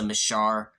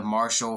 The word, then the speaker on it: Marshall: double thumbs up to vanessa machar marshall sorry i said it wrong at first vanessa marshall for her voice role of shiva and mortal kombat 11.